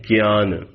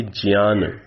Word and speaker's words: ज्ञान: कर दी होगी कि आप लोक व्यवहार में जिसका उच्चारण ज्ञा करते हैं, आप क्या बोलते हैं? ज्ञान। आप क्या बोलते हैं? यज्ञ। तो उचित उच्चारण संस्कृत भाषा की दृष्टि से ज्ञा का क्या है? ज्ञा। तो मैं उच्चारण लगातार करता हुआ आ रहा हूं ज्ञान, ज्ञान अर्थात जिसे आप ज्ञान बोलते हैं, यज्ञ अर्थात जिसे आप यज्ञ बोलते हैं। तो ठीक उच्चारण क्या है? यज्ञ, ज्ञान।